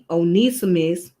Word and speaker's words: Onesimus: You say it's pronounced as Onesimus.